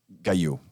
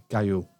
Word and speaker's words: Gaillot: I'm leaving that in as well because it's just a testament of how bad I am at pronouncing. Say it again for me. Gaillot. Gaillot.